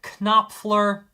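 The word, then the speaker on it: Knopfler: Dire Straits guitarist Mark Kopler. The K is silent, but I said it anyway cuz I am a rebel and can't no one tell me what to do.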